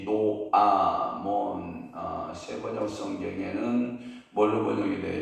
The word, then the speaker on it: 노아몬: 히브리어 말로는 노아몬, 영어권에서는 테벳 이렇게 발음이 된다고 그러죠.